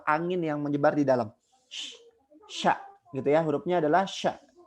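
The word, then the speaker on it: ش: Ya, hurufnya adalah sya, satu saja. Ketika kita mengucapkan huruf sya itu ada udara yang menyebar di dalam mulut kita, gitu ya. Jadi tidak sa.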